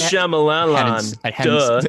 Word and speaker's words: Shyamalan: It's pronounced Shyamalan.